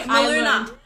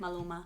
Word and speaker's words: Maluma: The apparently Maluna. Maluma. How do you say it? It's Maluma.